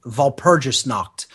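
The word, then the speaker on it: Walpurgisnacht: has been called Val Puris kned vgis KN is spelled w a l p uur g i s n a c HT vgis knocked and it means the Knight of Val purgis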